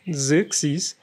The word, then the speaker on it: Xerxes: that i name it xerxes which i really love um it means uh ruler of heroes and it's pronounced with a z like my name and stuff so i